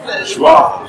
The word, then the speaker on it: joie: Joie.